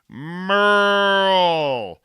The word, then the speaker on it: Merle: Merl.